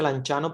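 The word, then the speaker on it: Lanciano: así como milagro de lanchano se pronuncia lanchano pero se escribe el anciano eh Porque es una palabra italiana Esta es la basílica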